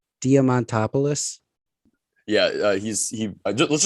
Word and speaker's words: Diamantopoulos: diamond topolous how do you say his name diamantopoulos yeah uh he's he let's just call him